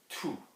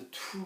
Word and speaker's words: tout: There's no pronunciation of that T because there is not a vowel after it. There's no E after it. There's nothing making you pronounce it, okay? If you had in the form of the sentence a vowel coming after it in the next word, then that changes things entirely.